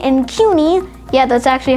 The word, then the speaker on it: CUNY: and the public university systems like suny and cuny yeah that's actually how you pronounce them are very prominent and they're world